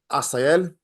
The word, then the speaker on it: Jazelle: It's It's pronounced Asel.